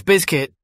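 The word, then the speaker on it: Bizkit: you're saying it wrong bro it's biscuit you pronounce the Z it's not difficult I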